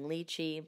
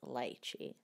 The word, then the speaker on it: lychee: one of the candies I was saying lychee but it is light Chi so now that that's